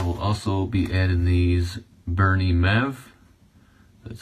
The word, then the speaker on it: Bernie Mev: And I will also be adding these Bernie Mev.